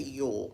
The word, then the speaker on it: Uhl: own Magic by Cassie Yu that's how you pronounce her name by the way Yol let me pull this